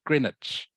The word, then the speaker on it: Greenwich: though it it is spelled Greenwich okay you pronounce it Greenwich Greenwich okay I hope that helps Greenwich so you talk about Greenwich mean time GMT okay does that make sense